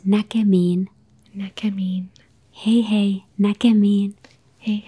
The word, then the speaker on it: näkemiin: It's näkemiin.